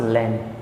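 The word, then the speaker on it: lamb: है हमारे पास लम वैसे हम इसे पढ़े तो लम पढ़े बट ये प्रोनंसिएशन रंग है इसे हम पढ़ते लेम और लेम होता है मेमना या भोला भाला व्यक्ति ऐसे भी हम उसके लिए भी हम लेम का प्रयोग कर सकते हैं यहां पर एम के बाद ब आ रहा है इस कारण से बी साइलेंट हो जाता है हमारे पास नेक्स्ट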